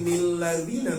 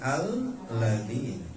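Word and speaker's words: الذين: Jadi bacanya ardonilladzina ardonilladzina. Jangan dibaca nanti nilladzina bukan Bu. Tetap aja kalau kita mulai dari ayat itu mah alladzina.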